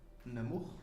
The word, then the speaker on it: Namur: Namur? Am I pronouncing it correctly? It's right.